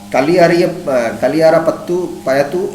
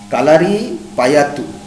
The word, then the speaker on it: Kalari Payattu: Kathakali is a dance drama, and Kaliyara Payattu is a famous martial art from the form of this state. I have to pronounce it properly. Kalari Payattu.